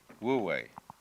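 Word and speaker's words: 無為: And then with this character this is pronounced This one is woo and this one is way. Woo way.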